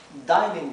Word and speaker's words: dining: Recuerden que esto se pronuncia dining porque tenemos una sola N, ¿verdad? Cuando tenemos una vocal, luego tenemos una consonante sola y luego tenemos otra vocal, la primera vocal adquiere su sonido largo.